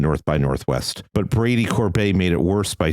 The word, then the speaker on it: Corbet: Well, that's very unfair to Brady Corbet. He pronounces his name Corbet.